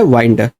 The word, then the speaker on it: wind: तो एक वर्ड है विंड, एक वर्ड है वाइंड। तो अब देखो दोनों के साउंड अलग है, वर्ड सेम है, मीनिंग सेम है, स्पेलिंग सेम है, साउंड डिफरेंट है, मीनिंग डिफरेंट है। इसको हम बोलते हैं होमोग्राफ, है ना।